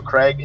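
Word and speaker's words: Krieg: can dual wield weapons various at various times Creek the psycho Craig how we pronounce it is fire melee and gauge the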